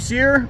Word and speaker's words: Cyr: Sear.